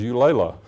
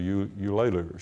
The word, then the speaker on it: Eulalia: People couldn't pronounce her name. I thought her name was Eulalia. That's the way people pronounced it in those days, but it was actually Eulalia.